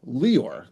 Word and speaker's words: Leor: Okay, so I didn't like that pronunciation, and I just decided to call myself Leor, and pronounce accent on the first syllable. But now I go to a gym, and the guy's half Jewish, and he likes to call me Leor, and I'm getting used to that. And that is the actual pronunciation of the name.